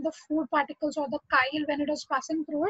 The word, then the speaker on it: chyle: Okay, C-H-Y-I, तो chyle पढ़ने का नहीं है उसको, we will pronounce it as chyle.